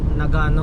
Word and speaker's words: Nagano: Nag na Nagano ang tamang pronunciation.